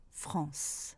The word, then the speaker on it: France: Dans le cas de France, je prononce le C. Mais attention, je ne prononce pas E. Je ne prononce donc pas France, mais France.